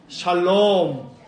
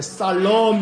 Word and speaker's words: 샬롬: 인사 한번 깍듯하게 인사하고 손을 내밀면서 샬롬. 또 이 발음 잘해야 돼. 살롬 뭐 이러면 안 돼.